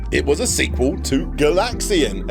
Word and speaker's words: Galaxian: Galaga, because it was a sequel to Galaxian. Again, emphasis on the second syllable. Galaxian, Galaga.